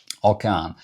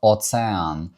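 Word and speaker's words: ocean: Ось оцей звук - це С. Тобто оце читається українську як оцеан. Оцеан. Не океан, а оцеан.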